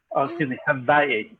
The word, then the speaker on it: Hawaii: We're going to walk you through the Ho'oponopono, the make right twice, self-forgiving technique from Hawaii. Hawaii, properly pronounced.